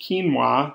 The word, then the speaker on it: quinoa: quinoa pronounced quinoa this is a yummy seed you just have to know it's a q instead of a k one of those words without any type of reason 19.